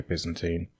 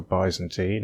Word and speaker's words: Byzantine: The internet tells me that British people say Byzantine, and Americans say Byzantine, but there's also the potential for Byzantine or Byzantine, and whichever way I